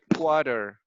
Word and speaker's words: quarter: not a real word it's because people cannot pronounce correctly quarter and they say koda right so but remember